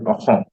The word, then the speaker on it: असम: जो हम लोग आसाम बोलते हैं, Assam is a wrong word actually, wrong sound for okay. Pronunciation. It is actually असम।